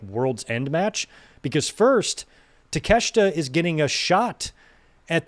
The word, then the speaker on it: Takeshita: And I forgot how Okada pronounces his name. Takeshita. I think he calls him Takeshita.